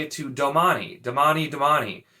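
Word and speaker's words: damane: damani which is is d-a-m-a-n-e damani i've always said domain once again you don't need to pronounce that e also having damani be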